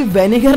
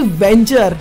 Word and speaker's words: Venger: अरे भाई वेनेगर नहीं वेंचर, ठीक से स्पेलिंग पढ़ो टेक्नो भाई। बाय द वे अगर ये वीडियो देख रहे हो तो वेंचर है वो वेनेगर नहीं।